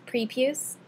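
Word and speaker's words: prepuce: is actually preuse pre the proper pronunciation there is preuse um and so an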